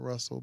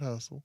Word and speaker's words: Hussle: Nipsey Hussle. Nipsey I Hussle. said it right. Yep. Not Russell, but Hustle.